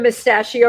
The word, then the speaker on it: Mustachio: Stephen Mustachio rhymes with pistachio.